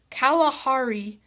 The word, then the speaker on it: Kalahari: life the drier western regions toward the calar Kalahari spelled ka la har I desert or left